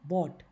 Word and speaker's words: brought: Bring, बॉट, BROUGHT बन जाता है बॉट। ये हमने सारे स्पेलिंग रूल्स में किए थे कि OUGHT आएगा तो साइलेंट हो जाएगा।